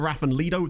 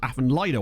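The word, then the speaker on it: Afan Lido: Won that division over Aphen Leido. That was very satisfying. It's actually pronounced Aphen Lido.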